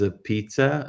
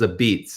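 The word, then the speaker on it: Apizza: viral for uh Sally's a pizza or you know it's it's called Sally's a beats if you really are in the know how to pronounce it but it's spelled Sally's a pizza it's a long story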